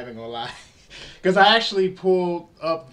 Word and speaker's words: Il: Yeah, L, like the Italian word for the.